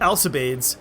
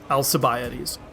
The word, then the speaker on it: Alcibiades: we can go to Alcibiades I'm already said about the extra syllables yeah that's also bioody not alta babe Alcibiades and what's appear settings that's